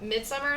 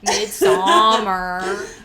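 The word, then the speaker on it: Midsommar: So yeah, we're talking about Midsummer, the way it's spelled. Sorry. That's how they say it in Swedish. Midsummer.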